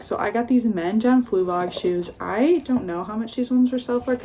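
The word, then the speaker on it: John Fluevog: These are John Fluvog. Yeah, that's how you say it, John Fluvog.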